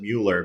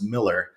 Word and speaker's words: Mueller: A lot of people pronounce it Mueller because it looks like Mueller. But when I was here early in the 90s, I interviewed the family and they said, no, it's Miller, but it doesn't matter.